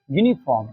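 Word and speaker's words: uniform: यूज़ करेंगे ए यूनिफार्म यूनिफार्म देखो देखो यू वोवेल है। ध्यान दीजिएगा। यू स्वर है यहां पर। लेकिन साउंड किसकी आ रही है? साउंड आ रही है व्यंजन की।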